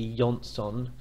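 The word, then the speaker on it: Jonsson: Johnston of the save I think his name will be yon ston actually and so we should probably pronounce it in Swedish and their Shaqiri Shaqiri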